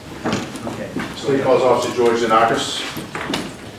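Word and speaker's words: Xenakis: So, Officer George Zanakis, last is spelled X-E-N-A-K-I-S.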